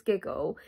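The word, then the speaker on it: Gigil: think they're called giggle i think you pronounce it giggle it's g-i-g-i-l so i think it's giggle um but yeah it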